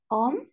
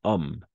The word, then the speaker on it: homme: En este caso, homme, n'est-ce pas? Homme commence par une H muet.